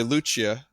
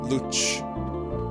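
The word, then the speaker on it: Lucca: You don't know why I'm getting the CH sound? It's an Italian thing. Luch. It's kind of like some words in Italian are pronounced like the two C's together are Luch, Luchia.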